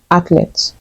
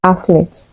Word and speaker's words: athlete: you say this word do you say athlet the correct way to pronounce this word is athlete here's a sentence she